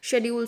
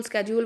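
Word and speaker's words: schedule: Table में देखिए production possibility शेड्यूल जो हम लोगों को गिवन है, production possibility शेड्यूल, स्केड्यूल, what ever you want, you people can pronounce it.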